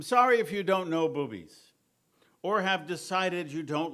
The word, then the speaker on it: Bubbies: And correctly pronounced, boobies, slang for boobala or grandma, because it's grandma sauerkraut, though west of the Mississippi, it's called bubbies.